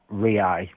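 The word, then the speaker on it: reais: Their currency is a Brazilian rii. It's it the way you would spell it is re e i s right. Rii. Okay. So it's pronounced rii.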